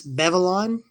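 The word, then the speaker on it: Baevalon: and my poet's blade has a name it's bevylon because my blade is female why not and babylon is spelled b-a-e-v-a-l-o-n and sometimes the air is heavy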